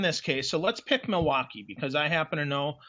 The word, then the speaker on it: Milwaukee: I understand there's no L in Milwaukee. It's Milwaukee for those that that would be actually live correct, there.